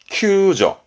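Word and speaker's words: 救助: 발음은 큐저.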